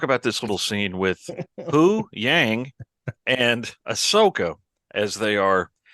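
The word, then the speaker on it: Huyang: Hu Yang. Hu Yang. Hu Yang. Hu Yang. Well, it's like who is that? Yang. Hu Yang. That should help you remember how to say it.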